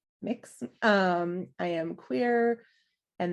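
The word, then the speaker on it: Mx: i use they them and mix which is pronounced mix um i am queer and that is just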